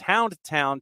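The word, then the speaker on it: Houndtahn: I'm staring at the hashtag I'm sure I'm mispronouncing it back yeah t-a-h-n you know there it's it's Hound it's Hound town to the rest of us but when you're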